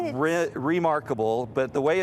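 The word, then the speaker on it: Rimarkable: long time to come so this is called remarkable but the way it's spelled is r-i-m remarkable r-i-m okay and it's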